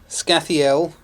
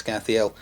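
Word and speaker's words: Skhathael: And then we have Scathiel, I think I was mispronouncing his name last time, I'm pretty sure it's Scathiel, and Galangan over here.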